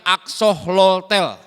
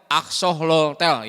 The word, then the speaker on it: axolotl: bukan sebuah seekor binatang dibacanya Aqsa holtel Aqsa holtel ya nulisnya agak susah agak belibet secara ternyata